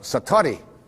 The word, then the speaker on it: satori: it's called excuse my japanese but it's called satori i'd love to say that saturday s-a-t-o-r-i and